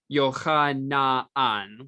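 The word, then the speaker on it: Jochanaan: And note in German that Jochanan, his name is pronounced Jochanan, with na-an being two syllables.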